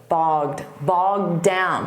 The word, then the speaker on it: bogged down: And notice that pronunciation, bogged, bogged down. Because when you say the D from down, you won't hear it so much on the past simple of the verb bog, bogged down.